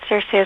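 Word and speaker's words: Circe: I was calling it Cersei as well but I believe in Greek you have to pronounce it kir yeah and um yeah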